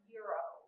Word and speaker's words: gyros: It's pronounced Euro.